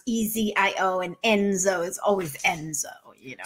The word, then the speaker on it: Enzo: Enzo is a big brother name.